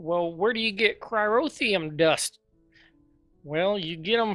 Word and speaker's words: cryotheum: I needed some cium I think it's pronounced cryotheum yeah gelled cryotheum so uh I was